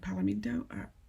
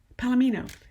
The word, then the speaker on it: palomino: a hardback version of palominto palomento how do you say that palomino that's it palomino horses that's the word